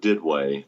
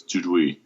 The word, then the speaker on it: Duduit: In Southern Ohio lingo, it's pronounced Didway. But in the French pronunciation, it's Duduit. Duduit. So any combination, I'm fine with.